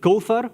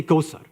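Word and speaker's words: كوثر: So instead of alladhina, allazina. Instead of kawthar, they say kawsar, right?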